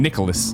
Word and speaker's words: Nicolas: Nicolas is that is pronounced like the name Nicholas by employees of the company during streams so Nicholas is hired to it